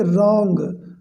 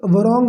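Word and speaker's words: wrong: याद रखें यहाँ पर डब्लू साइलेंट है, इसको पढ़ेंगे रॉन्ग, नॉट वरॉन्ग नहीं, रॉन्ग, राइट।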